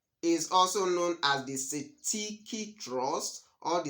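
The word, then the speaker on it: cestui que trust: black SL dictionary transcription it is you can pronounce it as Siti Siti Trust or s s trust so the beneficiary is also known as the CTI trust or the S trust there's another name for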